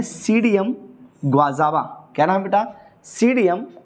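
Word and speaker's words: Psidium: तो अमरूद का साइंटिफिक नेम है सीडियम ग्वाजावा। क्या नाम बेटा? सीडियम ग्वाजावा। यहाँ पर बेटा पी जो होता है वह साइलेंट होता है, तो हिंदी में इसको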